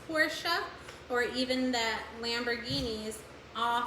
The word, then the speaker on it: Porsche: that's most likely pronouncing Porsche wrong that it's pronounced Porsche, or even that Lamborghinis all fall under the Volkswagen brand.